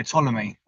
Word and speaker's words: Ptolemy: that i don't think you have to pronounce the p oh yeah ptolemy so the ptolemy model